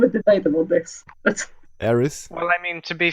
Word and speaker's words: Aerith: Not pronounced with TH, but it's spelled with TH. We can have a debate about this. But Aerith.